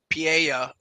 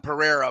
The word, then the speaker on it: Pereira: to go with Alex Pia most people call him Pereira but the r is not pronounced in Portuguese um whoa interesting John